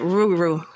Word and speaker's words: Rougarou: I saying you're wrong you're like pronouncing like all the letters you can't pronounce all the letters you gotta you gotta drop off some of the letters but it's the Rue right you gotta drop off some of that Ruru that's that southern Mush Mouth that it's a